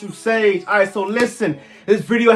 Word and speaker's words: TvuSage: TvuSage, and yes, it's always it's pronounced TvuSage.